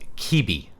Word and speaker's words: Quibi: be either YouTube or BitChute, but one called Quibi. I believe it's how it's pronounced.